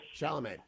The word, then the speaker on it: Chalamet: Chalamet. And it's a fine film. Have you seen it yet? I have not seen it, but I'm interested in it, and I am generally impressed with Timothy Chalamet.